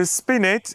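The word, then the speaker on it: spinet: to just save myself here how do I pronounce that word spinus spinus what is it spinus so spinit is a a form of harpsicord normally a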